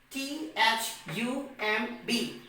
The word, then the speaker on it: thumb: per the rule that if the letter b comes after the letter m then the letter b becomes silent so b o m